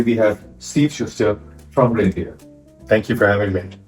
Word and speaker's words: Rainier: Today we have Steve Schuster from Rainier. Thank you for having me. It's not Reindeer, it's Rainier.